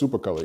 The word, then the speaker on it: Supacolor: Does it rhyme with Bupacolor? Yeah, it's Supacolor, yeah.